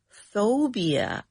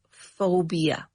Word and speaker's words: phobia: Phobia. And this word it is it's spelled with a P. Phobia because the word is spelled like this P H O B I A but it is pronounced phobia.